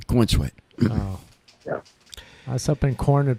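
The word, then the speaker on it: Corenswet: theater oh David Corweat c O R E N S W T so I guess that's cornswe oh yeah yeah cornsweet oh something in corn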